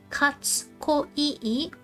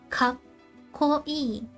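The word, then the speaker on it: かっこいい: Whenever you see a small tsu, we skip that sound. You don't pronounce it.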